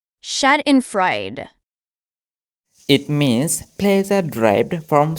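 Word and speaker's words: Schadenfreude: of wooden Birds struck with mads the correct pronunciation of this word is shad and Fred shad and Fred shad and Fred it means pleaser derived from someone else misfor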